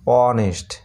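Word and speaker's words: honest: তারপরে দেখো এইচ ও এন ই এস টি, অনেস্ট, এইচ এখানে অনুচ্চারিত, ও থেকে উচ্চারণ শুরু হচ্ছে, অনেস্ট।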